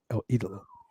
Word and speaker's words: El Idolo: I said it right, El Idolo.